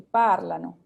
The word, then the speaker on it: parlano: Por ejemplo, aquí parlano, ahí iría el acento, ¿sí? Que aunque no se escribe, ahí iría la acentuación.